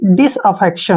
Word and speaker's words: disaffection: और TION का जो उच्चारण है श के रूप में करेंगे और एन को न लिखेंगे, ठीक है ना। अब देखिए DIS dish, AFFEC अफेक्ट, TION शन यानी कि डिसअफेक्शन।